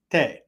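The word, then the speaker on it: 手: shoe the kanji shoe can also be pronounced te as in karate not karate karate okay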